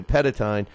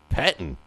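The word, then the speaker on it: Pettine: But speaking of the Jets, don't you dare, Mike Petine, or however you say Petitine, Petitine. How do you say it? Pettin.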